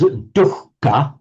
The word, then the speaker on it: dukkha: is a special case, whereas dukkha, we do pronounce the H separately, and it's distinctly heard before the K, the same way that it's written.